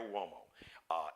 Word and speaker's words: Uomo: Uomo is spelled, I guess, in Italy, Latin, the UO is like whoa. Mario Uomo.